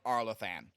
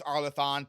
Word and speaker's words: Arlathan: Bonds, and Blood of Arthan. So, um I know it's Arleathon, but I pronounced it wrong here just because I did.